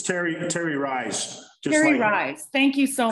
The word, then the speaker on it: Terry Rice: Oh, it's Terry Rice.